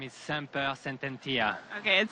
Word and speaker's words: Semper Sententia: And here with her trainer, Rudolph, how can you help us pronounce this filly's name here? Yeah, her name is Semper Sententia.